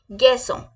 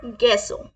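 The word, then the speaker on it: garçon: our next word is बॉय बॉय is like गैसो कैसे करेंगे गैसो कैसे गैसो गैसो girl our next word is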